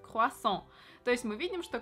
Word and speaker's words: croissant: Вот смотрите, вот так пишется слово круассан по-французски, и произносится оно как круассан.